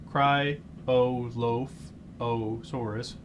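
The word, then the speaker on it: Cryolophosaurus: early Jurassic yeah so uh cryosa cry osaurus that's how you say it uh which also means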